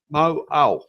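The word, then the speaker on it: Mauao: Mo'au.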